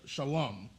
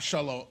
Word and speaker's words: Shalom: would be connected so it would be sh Shalom so it be it would be pronounced Shalom not Shala shalawam I mean other groups said I mean that's